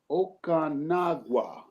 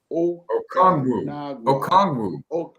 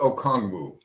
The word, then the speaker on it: Okongwu: Okanagwa, Mr. Okongwu. Where are they coming with these last names that are so hard to pronounce? Onyeka Okongwu.